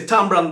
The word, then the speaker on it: tamarind: we make we say tamran balls kind of we shorten the name instead of Tamarind we say tamran is that how you